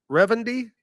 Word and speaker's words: Rendy: to now here's one Gordon how would you pronounce this re v n d y rendy perfect you name thank you rendy rhods is